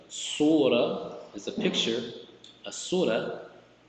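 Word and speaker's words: سورة: But many cases, if you stop at this word, you pronounce this as if this was the ha, like without the dots, the surah, right?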